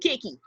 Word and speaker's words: khaki: Yeah, the first time I heard a Bajan person say khaki, I thought I went looking for key because I thought they meant, but they pronounce it keki.